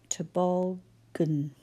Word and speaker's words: toboggan: We can hear n, but we have two syllables where we can't work out what the vowel sound is. They are unstressed syllables. And that means that this one, bog, in the middle, was our stressed syllable.